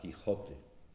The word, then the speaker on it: Quijote: Por ejemplo, ¿cómo se pronunciaba la palabra que hoy articulamos con una velar, Quijote?